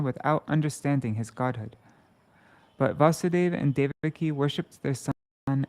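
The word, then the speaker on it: Vāsudeva: automatically disappears similarly when vasudeva appeared this should be vasudeva long a anyways similarly right when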